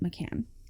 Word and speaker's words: McCann: double checked that um I believe the the parents pronounce it Macan mhm so approaching the